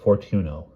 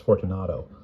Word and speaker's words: Fortunato: It was in vain that Fortuno, I've been saying it wrong this whole time, it's Fortunato.